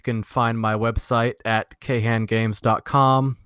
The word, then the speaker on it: KHAN: find my website at ke Han Gamescom which is kha n con games if you want to pronounce it like that or but you'd be wrong I'm on Nintendo a